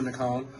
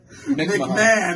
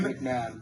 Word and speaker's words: McMahon: McCone. Did I even pronounce that McCone? correctly? I have no idea how to say his name. McMahon. McMahon.